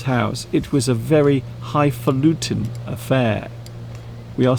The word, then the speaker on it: highfalutin: Highfalutin.